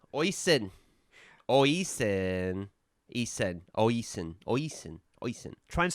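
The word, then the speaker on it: Oisín: And it will sound nothing like you think it's pronounced. Oisen. Ushin. Oshin. Ushin. Oh, there's no SH. Say it again. Oshin. Ushin. Oshin. Ushin. Oshin. Yeah, Ushin.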